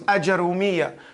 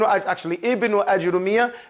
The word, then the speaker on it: Ajrumiyyah: So you can pronounce it with a Jim Fatha, Jim Dhamma, or Jim Sukoon. It's not going to take away from the meaning of the word.